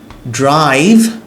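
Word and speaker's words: drive: মত করে ড্রাইভ ড্রাইভ এটা একটু কনফিউজিং ড্রাইভ বলে বাংলাদেশের বেশিরভাগ মানুষ কারণ আমাদের ভাষায় এই উচ্চারণটা নেই ভি উচ্চারণ নেই এজন্য সমস্যা হয় আমাদের ভ আছে কিন্তু ভি নেই ড্রাইভ ড্রাইভ ড্রাইভ ড্রিম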